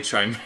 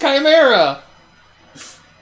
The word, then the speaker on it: chimera: read chimera i say china it's not the joke it's what they said in the show i know that's not how it's pronounced it's pronounced chimera i don't give this